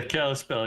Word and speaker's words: Kalispell: made it to your house out west in Kalispell am I pronouncing that right yeah Kalispell yep there we go anyway uh let's grid